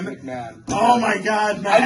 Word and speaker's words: McMahon: McCone. Did I even pronounce that McCone? correctly? I have no idea how to say his name. McMahon. McMahon.